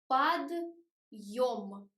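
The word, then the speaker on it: подъём: It sounds like подъем. подъем. If we lose the hard sign and we take the word without a hard sign, it will sound like подъем.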